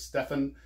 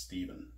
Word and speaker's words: Stephen: Making of Star Trek, I pronounced it as Stefan, and several people who spell that name with the PH reminded me it's pronounced Stephen.